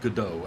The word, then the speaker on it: Godot: it is pronounced GD sounds like French or something they should call down